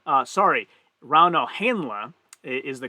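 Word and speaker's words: Rauno Heinla: points will go to round o heinlei uh sorry rauno henla is the correct pronounced pronunciation so it's it's like a european pronunciation and e in europe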